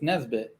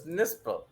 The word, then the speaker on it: Nispel: Or do you take Marcus Nesbitt? Nesbitt? How do you pronounce the last name? Fucking no, Marcus Nispel.